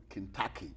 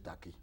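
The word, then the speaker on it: Tacky: They call him Kentucky. That's how but it's a mispronunciation. Yes. The actual thing is Tachi because he was an Akan person. The other people like Ga and the Dangme people will say Taki, but according to records,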